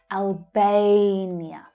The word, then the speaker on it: Albania: Notice that the stressed syllable is the A, as in day vowel sound. Albania.